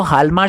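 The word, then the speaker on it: Hjalmar: Recovery to the economist हालमार शाख्त। J silent है, हालमार शाख्त।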